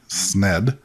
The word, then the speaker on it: Sned: Friday October 30th 1896 Cherokee Charlie sned uh and then they put in parentheses rhymes with dead no pun intended uh